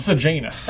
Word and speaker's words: Sejanus: Sejanus. Ah, yes, a name that totally is spelled how I expected it to be. And is a name I've heard before. I definitely thought it was Sirjanus, 2 words.